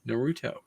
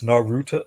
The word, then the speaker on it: Naruto: oh man I know it's a little bit off it's Naruto it's it sounds like you said it but it's softer it's a softer oh okay okay all